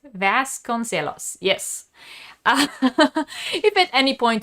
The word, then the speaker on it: Joana Vasconcelos: her name is Joana I am going to mispronounce this. Joana Vasconcelos, right? Vasconcelos, yes.